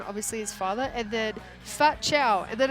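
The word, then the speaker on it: Phat Chau: his father and then fat chow and then it says pronounce like fat chow because you would pronounce fat chow some some different ones spelt p-h-a-t yes c-h-a-u i don't know how else you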